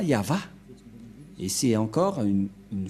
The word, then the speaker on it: Yahvah: n'est pas du ça ne devrait pas du tout être Yahwé qui ont induit en erreur les catholiques romaines car dans le le cheftor et bien yava la la prononciation et on va prendre en photo car certains aussi disent que que c'est ywa mais pas yava et c'est encore